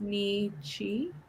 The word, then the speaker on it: Nietzsche: It is the philosopher is pronounced Nietzsche.